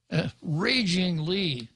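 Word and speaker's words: Régine: complaint are ragingly now senator Lee spells her name regi n but there is a primary accent over the e meaning that the first syllable of her first name is to be accented therefore it would be raging well that's too hard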